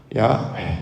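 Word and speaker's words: 야훼: 이름이 뭘까요 야죠 원래는 근데 이게 사실은 발음하기 어려워요 왜냐하면 호흡과 같기 때문에 야 야왜 이렇게 호흡 같은 느낌이기 때문에 이걸 발음을 한다는 건 매우 어렵습니다 그래서 신앙에서는 그가 오을 텐데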